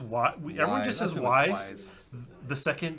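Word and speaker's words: Wwise: engine with w1 well wise wise wise I'm not sure how you say that I think it's wise ii W is silent because yeah the LOD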